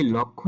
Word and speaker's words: লক্ষ্য: হবে উপলক্ষ আবার যেখানে লক্ষ্য দেখব এই লক্ষ্য উচ্চারণটির সঠিক উচ্চারণ হবে লক্ষ উপলক্ষ ভুল উচ্চারণ উচ্চারণটি হবে উপলক্ষ যদি শুধু লক্ষ্য থাকে সেটা উচ্চারিত হবে লক্ষ এই ছিল কিছু শব্দ